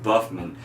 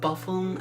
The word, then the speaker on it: Buffum: our first-time guest him buffman if you'd say hello it's him it's pronounced Buffum actually my name is Buffum yes that is who